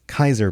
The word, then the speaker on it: Caesar: I think what he's saying here is Kaiser has I always want to read it Caesar, but it's Kaiser pronounced in the game.